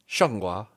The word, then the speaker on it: Zhanguo: I got a pronunciation. Okay. ZhanGuo.